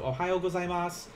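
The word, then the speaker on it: おはようございます: wanted to do uh i have sue s-u but i'm not pronouncing that last usa so ohayo gozaimasu instead of ohayo gozaimasu uh this is like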